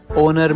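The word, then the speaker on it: honour: Ma'am जैसे H letter, ओनर में, आर में, ओनेस्ट में। नहीं बेटा, इनको हम इग्नोर नहीं साइलेंट कंसीडर करते हैं।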